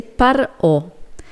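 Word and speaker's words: פרעה: Ahora, ¿cómo se dice faraón en hebreo? Se dice Par'o.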